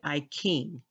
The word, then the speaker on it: I Ching: I noticed that um in China they pronounce words ch with k a k sound like I Ching is not iting it's actually I King so I kit or